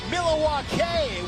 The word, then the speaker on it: Milwaukee: Actually, it's pronounced Milawake, which is Al Gangquin for the good land.